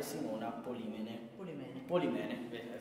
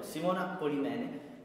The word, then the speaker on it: Simona Polimene: Borgo dei Libri 2017 a Torrita di Siena, c'è anche Simona Polimene. Ho sbagliato subito l'accento, però Simona Polimene, con un libro che si intitola La filosofia di Rudy.